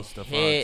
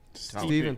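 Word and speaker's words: Stephen: Steven Tullet. Yeah, that's the way he pronounced it. Yeah, it was like it was it looked like Stefan, but it was Steven.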